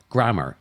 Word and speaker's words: grammar: Now that to me ends in ER, grammar, Grammmer. However, the correct pronunciation would be grammar, as in, my grammar is shit as well.